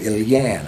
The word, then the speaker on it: Ilian: So I asked my father, I said, how do you say Leon in Arabic? And she said Ilian or Ilian.